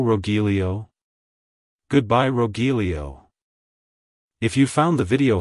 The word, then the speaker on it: Rogelio: inquire it's pronounced as rilio rilio rilio to pronounce it correctly emphasize the row at the beginning followed by a soft H and ending with Lio like hello Rilo goodbye Rogelio if you found the